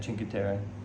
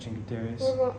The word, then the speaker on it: Cinque Terre: Yeah, Cinque Terre. Cinque Terre. We are not necessarily going to Cinque Terre. We're going to a small town outside of Cinque Terre called Manarola. Is that in the Cinque Terres?